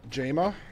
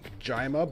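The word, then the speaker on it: Jayma: So now we're going to meet Jama, or the proper way to pronounce it is Jima, but I think it sounds ridiculous. So, or I was going to say, Jama.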